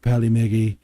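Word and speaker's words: Polymega: follow meggy pearly Maggie it's pronounced Pali Maggie sir I'll have you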